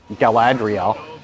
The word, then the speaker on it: Galadriel: enjoying herself checking out Galadriel Gallup Galadriel is that Galadriel eccentrics graduate is it you know what I nailed it all right this first pronunciation was like hey it's like dreidel yeah it's like gerade